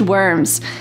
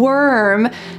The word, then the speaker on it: worm: There are three words early, bird, and worm that use a colored R. So in American English, this R is a strong hard sound.